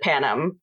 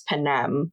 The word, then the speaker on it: Panem: But so I always pronounced it Panem because I'm very Midwestern and have the short A's that are very nasal. And apparently in the movies it's Panem, which fine, whatever.